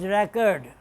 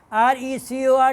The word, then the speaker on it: record: record, as noun it's record, record as verb is record, same thing, different pronunciation. People, you people born in